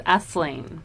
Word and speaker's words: Asleen: So no, it's Asleen. So it's like asleep but with an N.